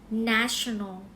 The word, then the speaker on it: National: โอเค มย นะ คะ เรา ไม่ อ่าน ยี่ห้อ ตู้ เย็น ดั้ง เดิม ของ เรา นะ Nation แว นะ คะ อ่าน ว่า National National วัน หยุด แห่ง